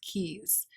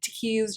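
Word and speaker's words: Tkees: keys keys silent t i'm guessing it's a silent t i bet it's pronounced keys but it looks like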